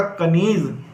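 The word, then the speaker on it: کنیز: अब देखिए जो ये छोटी ए है हमारी कुछ इस तरह से बनती है, और इसकी आवाज़ निकलती है ई की।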